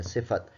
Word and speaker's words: صفت: سواد کے نیچے زیر ہے اور فے پر زبر ہے، تے ساکن ہے، صفت.